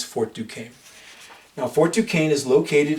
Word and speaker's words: Fort Duquesne: to of course have their intriguing spawns but pronounce Fort Duquesne now Fort Duquesne is located in a place